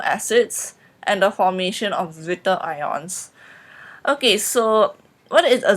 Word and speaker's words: zwitterion: properties of amino acids and the formation of Zwitter ions. Okay, so what is a Zwitter ion? First of all, it is spelled ZWITTERIONS.